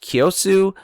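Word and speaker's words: Kiyosu: I believe it's pronounced Kyosu, where he actually still lives.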